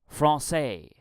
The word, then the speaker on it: français: In French, it's pronounced français.